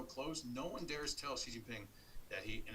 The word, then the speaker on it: Xi Jinping: No one dares tell Xi Jinping that and it's pronounced like the female pronoun she, right? Not Xi or he or however people X. That's not a Xerox X, that's a SH X. Xi Jinping.